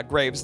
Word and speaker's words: Graves: t a i r uh Graves like tombstones uh but I'm not spooky